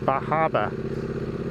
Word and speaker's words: Bar Harbor: days, we stopped in Bar Harbor. Bar Harbor, or I think it's pronounced Bahaba. I saw a sign that pronounced it, and it was B-A-A Haba.